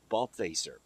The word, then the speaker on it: Balthaser: You notice I'm not using your last name again because I don't want to mispronounce it. It's Balthaser.